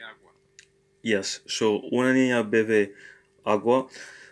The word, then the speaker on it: bebe: Yes, so una niña bebe agua. Notice here that the B is pronounced as a V, so the second B, of course.